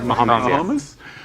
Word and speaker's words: Mahomes: And Patrick Mahomes, am I pronouncing it? Mahomes, yes.